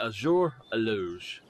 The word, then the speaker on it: Azure Eloge: bow and now the turkey hunting with the azura loge i believe that is how it said let me make sure that is how it's said before we do anything else yes the azure aleuge okay so i've had a great deal of